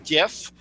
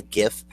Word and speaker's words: GIF: Because graphic doesn't start with a J and it has a hard G sound.